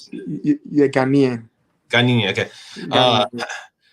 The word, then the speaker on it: Ghanaian: I mean, and also again, we have a lot of like Ghanaians, like me, that has been living in US,